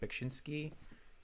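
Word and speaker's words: Beksiński: ] I think it's his name is pronounced bakshinsky um he did like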